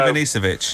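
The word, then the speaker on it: Ivanišević: And also, you've just mispronounced it as well. It's I know. Ivanisevic.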